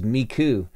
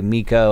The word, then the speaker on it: Miku: wrong almost every time i believe it is miku and i always say miko and i'm sorry about